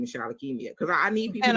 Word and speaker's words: Shalakemia: every video I'm like and my name is Charlotte Kimia because I need people and I said what